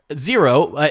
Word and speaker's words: Xero: So Xero, pronounced Xero, is spelled Xero.